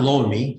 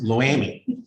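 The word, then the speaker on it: Loami: pronounce it probably different it's not lonely it's low amy right um but it's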